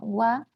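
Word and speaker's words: は: No, porque ja es la sílaba ja. Wa es la pronunciación que se le da cuando esta sílaba tiene función partícula.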